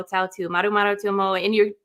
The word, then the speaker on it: Tautu: And then Mo-O, M-O, apostrophe O, and then Tautu, T-A-U-T-U.